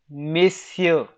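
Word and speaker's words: messieurs: right mr rosa your miss you will become miss you will become uh miss here all right the pronunciation will remain the same the only thing is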